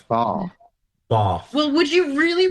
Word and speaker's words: Bath: and that is it's not Bath, What is it? Bath. it's Bath.